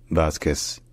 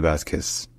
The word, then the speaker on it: Vázquez: front political Coalition so in Spanish his name is pronounced T Vasquez to Basquez T Basquez t vasus all right